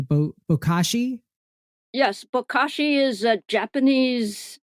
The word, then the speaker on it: Bokashi: And I actually had never heard of the system that you use, and tell me if I'm pronouncing it correctly. Bokashi.